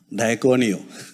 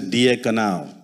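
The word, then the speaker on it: διακονέω: And then I saw the real meaning, and the real pronunciation is diakonao, which means a servant or a deacon.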